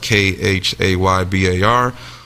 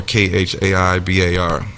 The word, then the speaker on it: Khaybar: Sometimes it's pronounced Khaybar or Khaibar.